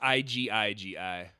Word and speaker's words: Igigi: it's IGIGI.